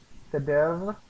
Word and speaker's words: cadera: But when it comes to Spanish, cadera, the ER is important because that is an indicator of when you need to roll your R.